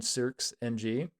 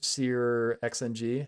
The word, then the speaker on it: SearXNG: What it's doing is it's downloading SearXNG, or SearXNG, however you want to pronounce that name, which is a open